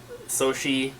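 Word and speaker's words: Sochi: and Sonic at the Olympic Winter Games uh sohi I believe it's how you pronounce it 2004 this is the big box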